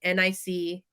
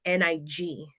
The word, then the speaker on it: Nicaragua: Nicaragua. They would pronounce it NIG, Oh gosh. almost like you were saying Nigeria, and then also like if you were saying like the negative term, uh, Yeah.